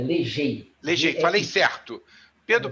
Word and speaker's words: Legey: Não, é como se pronuncia, Legei, Legei, falei G-E-I. certo. Pedro Falou Paulo certíssimo. Legei.